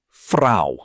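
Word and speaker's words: Frau: woman is fra rhymes with now.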